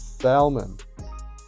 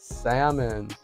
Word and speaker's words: salmon: He's like, every time I say salmon, I pronounce it as salmon. He's like, no, it's pronounced salmon.